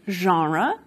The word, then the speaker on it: genre: We see this Englishification happening with a word like genre, borrowed in from French, that je sound at the beginning of a word, not a very English thing to do, and for some speakers, genre has become genre.